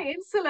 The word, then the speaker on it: insula: Is it I-N-S-U-L-A? I think insula, would that be Yeah, correct? insula, Yeah. Insula.